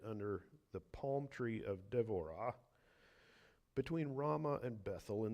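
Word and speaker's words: דבורה: now Deborah and the in Hebrew it would be pronounced d'vorah a propheus the wife of laido was judging Israel at that time she used to sit under the palm tree of devorah between Rama and bethl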